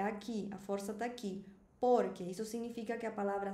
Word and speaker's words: porque: Eu falo porque, hum, é uma palavra jana. A gente fala no espanhol jana, ou seja, eu não preciso falar por porque seria aguda.